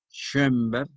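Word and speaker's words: Schönberg: ahí de Arnold termina con d ese Che o con dos puntos encima y que por eso se pronuncia correctamente en alemán entre o y e schember con m ber con b e g schember que significa Montebello es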